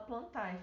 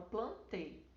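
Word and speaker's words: Plantae: Se escreve plantai, mas não fala plantai, fala plantê. Ok?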